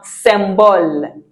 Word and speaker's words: symbole: YM, we have symbole. Mhm. Symbole. You could have said it was symbole. It's not symbole. YM sounds uhn. So, although it looks like it's English, the YM is uhn. So, symbole. Symbole.